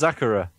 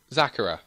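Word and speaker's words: Xakarah: I don't know but you made it it's zachara zachara and how is it spelled I know it's spelled uh x a k okay a r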